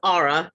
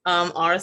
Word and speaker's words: Aura: Yes, it's pronounced Aura, just for clarification. Very phonetic, Aura.